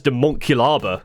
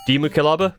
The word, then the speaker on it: Daemonculaba: you pronounce demon Caba I pronounce it as Deon Kaba but for this video I've been trying to pronounce it as demon Caba because it's clearly a concatenation of demon an evil being of the warp and Kaba a municipality